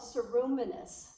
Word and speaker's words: ceruminous: in your medical records wax glands are called ceruminous that's how you pronounce that and milk glands we know is